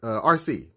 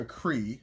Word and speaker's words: Arcee: least the autobot uh rc and i almost call it a cree or acory because when i was a kid that's how i thought you pronounced her name so yeah some habits